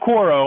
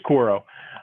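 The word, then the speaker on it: Quaero: q-u-a-e-r-o i can't pronounce it's not quoro i think it's koro um and and then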